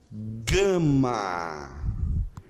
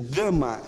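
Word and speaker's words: γάμμα: gama, escrito impróprio, e a pronúncia do gama é sempre a pronúncia G. G. Ok? E o gama, ela tem uma característica, sempre que ela vem antes de uma outra letra gutural, ela tem o som de N.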